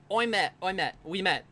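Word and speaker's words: Ouimet: that really how you pronounce that? Yeah, that's how you pronounce it.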